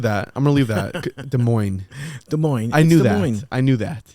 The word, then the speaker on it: Des Moines: is coming out of Des Moines Iowa Des Moines you don't you don't pronounce you don't pronounce the S yeah can I ask